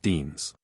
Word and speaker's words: Danes: they are often hailed as Dames pronounced Deans indeed this dislike was